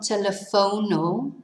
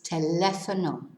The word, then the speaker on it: teléfono: So it's not telefono, it's teléfono.